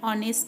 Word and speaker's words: honest: Our examples are an honest man. Here, though the word starts with H, the H is silent here, so they are having vowel sound, so we are using article and before them.